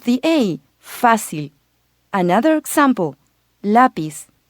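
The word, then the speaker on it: lápiz: a facile another example lapiz notice that if correctly pronounced the emphasis is on the first syllable its lapies not lapies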